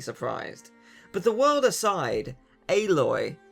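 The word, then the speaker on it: Aloy: not alloy reviewers come on the amount of times I've heard reviewers pronounce her name alloy the game says her name enough she's not a metal she's a physical tank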